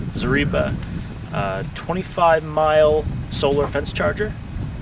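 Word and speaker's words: Zareba: charger or Energizer uh this is the zarba that's how you say it zarba uh 25m solar fence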